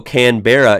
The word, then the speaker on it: Canberra: Also, Canberra is pronounced Canberra.